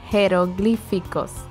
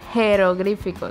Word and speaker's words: jeroglíficos: Jeroglíficos. I thought the H goes silent. No, because it's written J. Oh, in Spanish it's written with a J. It's written J-E-R-O. Ah, that's G.